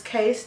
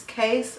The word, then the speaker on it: Kace: okay so his name was case Jeremiah it's case not Casey it's one syllable case he was born six